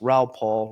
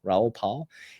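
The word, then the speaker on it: Raoul Pal: You got Michael Sailor, Brad Garlinghouse, Ralph Paul. Ralph Paul. Do I say his name incorrectly? Raul Paul. Paul. Pal. Raul Pal.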